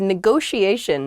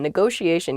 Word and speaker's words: negotiation: is negotiation negotiation yeah there are two t's in this but neither t is a hard t they're both very soft that sound because they're followed by the i and another vowel that she a negotiation negotiation refers